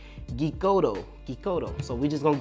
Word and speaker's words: Geekoto: That's kind of how I pronounce it because it's geek and then oto. So I'm thinking it's like Geekoto.